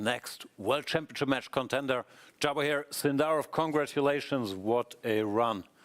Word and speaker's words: Javokhir: Like in Russian, everyone says Javokhir, but in general, in Uzbekistan, Javokhir. Javokhir is if, I mean, J is in English.